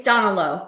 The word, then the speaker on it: Donal Lowe: It's Donal Lowe. That's how you say his name, Donal Lowe.